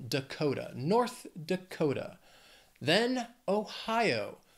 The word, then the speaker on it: Ohio: Dakota North Dakota then Ohio three syllables stresses on that second syllable Ohio Ohio let's just